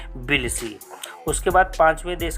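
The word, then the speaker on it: Tbilisi: जो जॉर्जिया की राजधानी थी वो बिलसी थी। इसमें टी साइलेंट है, तो उस देश की राजधानी जॉर्जिया की बिलसी थी।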